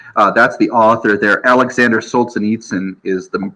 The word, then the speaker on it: Solzhenitsyn: Alexander Solzhenitsyn is the pronunciation I usually use.